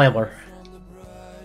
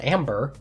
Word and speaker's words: Amber: been gone for months Rachel Ambler I didn't say her name right I put an L in there Rachel amber uh yeah she was